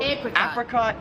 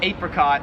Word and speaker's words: apricot: So apricot is like the American way, but I've always pronounced it apricot, which is how like everyone in Australia pronounces it.